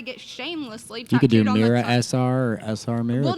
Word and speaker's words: Mira: shamelessly you could do mira sr well no one can ever pronounce my name i always get called myra so it's just